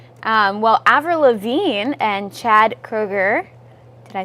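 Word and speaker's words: Kroeger: so stay tuned well Avril Lavigne and Chad Kroger did I say that right you did okay good I'm the worst of pronouncing names um they tied the knot apparently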